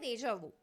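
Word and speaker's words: déjà vu: इसे हम कहते हैं रेजावो।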